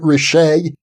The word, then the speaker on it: Richet: Am I pronouncing his name correctly? Is it Richet?